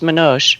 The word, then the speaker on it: Manoj: I think his name is pronounced Manoj.